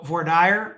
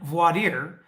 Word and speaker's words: voir dire: So voir dire and voir dire actually are alternate pronunciations of the same thing.